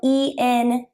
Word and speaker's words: Entheozen: website, and that's spelled Entheozen. It's just like the word entheogen, but with a Z, Entheozen. Because it's Zen.